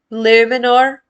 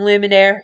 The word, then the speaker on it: Luminor: Luminor. If you call him Luminaire, he'll be pretty peeved off.